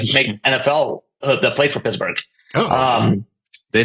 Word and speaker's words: Pittsburg: But it's spelled not like Pittsburgh, Pennsylvania. It's like Pittsburgh.